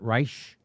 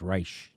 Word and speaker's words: Reich: Robert Reich. I've been saying it wrong. It's Reich, not Reich.